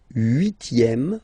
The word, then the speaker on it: huitième: Le septième, so remember we don't pronounce this P here. Le septième, la septième. Okay? Le huitième, remember H doesn't exist.